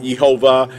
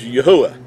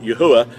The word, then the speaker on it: Yahuah: the creator's name which we know as being yahuwah and it's not yahweh it's not jehovah it's not all the other variations it is yahuwah and i've done a teaching on my youtube